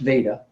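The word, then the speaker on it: वेद: It's pronounced Veda, and Vidya.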